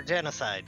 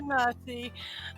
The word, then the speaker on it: genasi: Sierra Tsunami is a water genasi. Yeah, genocide. Sorry, you're right. Yeah, water genocide. Yep. Genocide. Yeah, you're right. Water You're genasi.